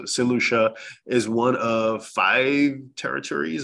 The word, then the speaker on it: Saint Lucia: I look online and people don't even know how to pronounce the island you know they they're saying all sorts of variations so same Lucia for those who don't know how it's pronounced so seleucha is one of five